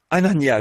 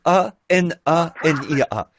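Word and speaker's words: Hanania: Anania, je pense que ça doit se prononcer comme ça. H A N A N I A.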